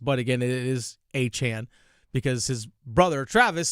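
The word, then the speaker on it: Etienne: Also behind him is is Trevor Achan, who is um by the way, I understand that a lot of people pronounce it ETN. That's how it used to be pronounced. But again, it is Achan because his brother Travis said that's how his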